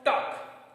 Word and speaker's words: talk: Here L is there but वी कैन नॉट से और वी कैन not pronounce that letter.